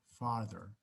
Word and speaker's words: farther: Bueno, porque al tener una A, yo lo pronuncio con una A larga, farther. Al tener una U, lo pronuncio con una E, further.